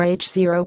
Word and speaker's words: H0: expansion of the universe Hubble's constant or h0 pronounced nought is the name given